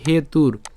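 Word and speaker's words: হেতুর্: হেতুর এখানে রেফ আছে আমরা রেফের উচ্চারণটা র হসন্ত পর্যন্ত উচ্চারণ করে ফেললাম তাহলে উচ্চারণটা কেমন হবে হেতুর হেতুর ঠিক আছে হেতুর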